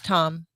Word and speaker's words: Thom: just don't know how tom is uh moving across it's spelled t-h-o-m i know but you still pronounce it tom indeed uh is moving